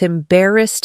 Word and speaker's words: embarrassed: I felt embarrassed at first, but I learned from that moment.